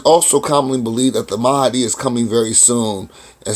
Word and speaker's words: Mahdi: That's Mahdi. It's pronounced Mahdi though.